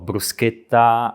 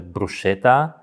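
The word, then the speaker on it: bruschetta: to już mocne mocne brusa o brusketta A często słyszę brusa bo jest sam popełniłem ten błąd Niejeden raz a przut też 2T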